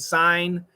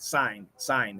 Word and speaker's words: sign: it's a stop sound sign it's uh it's a it's a uh silent sign it's just an N the g is silent hello Coach have a